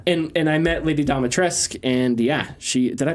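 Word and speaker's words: Dimitrescu: um but yeah and and i met lady domitresk and yeah she did i pronounced that right yeah yeah well it's yes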